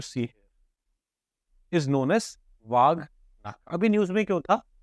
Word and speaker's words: Wagh Nakh: Am I pronouncing it correctly? People from Maharashtra may correct me. Nahi? Nakh. Okay. Wagh Nakh.